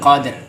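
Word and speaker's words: قدر: Inna anzalnahu fi lailatul qadr. Kalau bacanya berhenti, ro-nya jangan dibuang. Qadr sama dengan wal asri wal asr.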